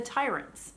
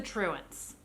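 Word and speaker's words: Truants: name of this book i'm going to call it the tyrants it's the truance this is me being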